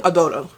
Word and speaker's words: Adoro: And anyway, so we're following Adoro. That's how it's pronounced on the audiobook, so that's how I'm going to pronounce it.